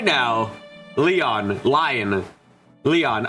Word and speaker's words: Lion: Leon, okay. Pronounced like Leon Kennedy.